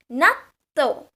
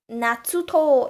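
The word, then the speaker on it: なっとう: In Japanese, while writing a double consonant, we replace one with this tsu, the chisai tsu. So please make sure you write it smaller, otherwise natsuto, it becomes something like that.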